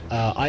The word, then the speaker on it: Aya: Also, Aya is pronounced kind of like air. It's sounding like you have a pole up your ass. So Aya.